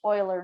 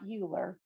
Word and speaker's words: Euler: is the letter e and yes it is pronounced euler not euler even though it looks like euler in this